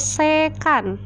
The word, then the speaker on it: sekan: Ini dibacanya, kalau tadi kosekan, ini dibacanya sekan. Sekan. Nah, SEC gitu, sec gitu ya, atau sekan gitu.